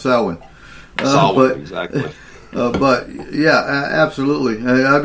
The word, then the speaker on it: Samhain: So a lot of people say, no, it's Samhain. No, it's pronounced Samhain.